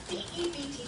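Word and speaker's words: debt: I abhor such fanatical fantasines, such backers of orthography to speak dot when he should say doubt, when he should pronounce it debit, D-E-B-T, not D-E-T.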